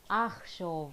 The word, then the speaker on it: אחשוב: And I will think, it's chet, it's guttural, so it's not it's a. אחשוב, I will think.